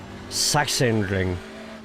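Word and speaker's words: Sachsenring: At first glance, Sashin ring or sashin ring, but it's more of a double, isn't it? Saxon ring. Yeah, exactly. Perfect.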